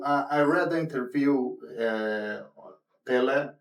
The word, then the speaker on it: Pelle: So I read the interview uh Pelle Pelle. Yeah. I don't know how it Yeah. You pronounce it like you're football player.